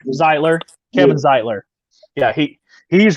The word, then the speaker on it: Zeitler: new york the ziegler oh no i pronounced his last name zeitler zeitler kevin zeitler yeah he